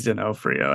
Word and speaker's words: D'Onofrio: I think it's D'Onofrio. I don't think there's the R in there.